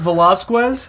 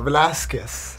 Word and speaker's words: Velasquez: quests you said Jim Velazquez Velazquez no Velasquez okay you got it oh he's the